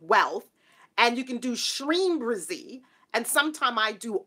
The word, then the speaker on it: Shreem: And you can do Shreem Brizzy.